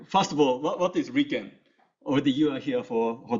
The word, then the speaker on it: RIKEN: So this is pronounced as RIKEN in Japanese.